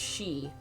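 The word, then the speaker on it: Xie: Okay, so Z-I-E is pronounced she. So kind of like Banshee.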